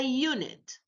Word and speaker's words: unit: Because we pronounced the U as U, yeah, which is a consonant. We didn't pronounce U here as a vowel.